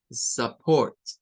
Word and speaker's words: support: o como U, tampoco, sino que en esta palabra se usa un schwa para esta vocal, U. Y va a sonar a support, support, soporte, support, support.